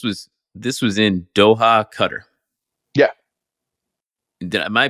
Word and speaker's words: Qatar: some people call itar some people call it Qatar it's for for intense and it's it's cutter you know that's how made a big change